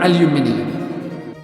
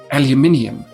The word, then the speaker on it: aluminium: However, in the great United Kingdom, we pronounce it aluminium.